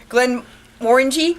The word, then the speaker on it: Glenmorangie: We're here to talk about the Scottish Highland Games, the Glenmorangie?